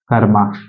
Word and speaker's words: कर्मा: कर्मा क्योंकि रा का उच्चारण इसमें पहले करना है।